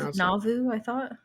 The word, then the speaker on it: Nauvoo: How did we decide we should pronounce it? Nauvoo, I thought. Nauvoo.